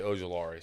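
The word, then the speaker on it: Ojulari: He went ahead and said BJ Ojolari. So if you want to throw it up there, he actually pronounced it right and everything. It was great. Yep. BJ. That's a good pick. Ojolari.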